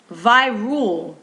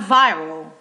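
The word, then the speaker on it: Virool: Virul, not viral, but Virul. I'm going to spell it for you. V as in Victor, I-R-O-O-L. Virul.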